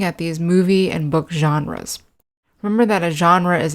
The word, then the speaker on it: genre: The pronunciation of the word genre might be a little bit strange to you because it's not an English word, it's a French word.